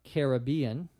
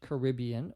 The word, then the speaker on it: Caribbean: of Martinique in the Caribbean or Caribbean you can pronounce it either way in American English Caribbean or Caribbean the question is about